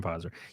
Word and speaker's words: Pfizer: The P is silent, just like my name. Funding from Pfizer.